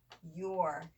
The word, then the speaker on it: your: OU says ow, but not in here. It actually says ooh, doesn't it?